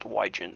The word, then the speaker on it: Wygen: Last name is pronounced Wygen, but.